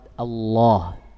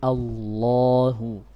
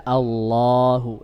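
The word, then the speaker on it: الله: Nanti kita lebih jelaskan tentang membaca lafaz Allah, benar-benar tafkhim Allahu, Allah, Allahu. Iya, jangan dibaca Allahu, ini salah, tapi Allahu tanpa menggerakkan bibir.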